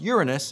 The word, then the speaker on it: Uranus: the way right now the planet Uranus generally pronounced Uranus in scientific circles really got the short